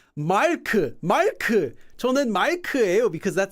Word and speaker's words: Mark: But what if you wanted to say, no, my name's not Maku, it's Mark. 저는 Mark예요, because that sounds more like Mark in English, Mark.